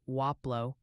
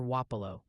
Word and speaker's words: Wapapello: Seems the consensus is leaning towards something like Waplo or Wapalo.